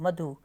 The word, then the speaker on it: मधु: में आ जाती है अब जैसे मधु वर्ड बोल रहे हैं हम मधु तो ध पे छोटे उ की साउंड है मतलब ऋस की साउंड है ठीक है ना तो जब ऋस की